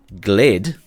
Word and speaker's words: G/VLLD: New ground vehicles fall into either one of two categories: the new M1025 Humvee G/VLLD, pronounced GLID, a target designation Humvee which will treat with exceptional optics, and the new FAV, Fast Attack Vehicles family.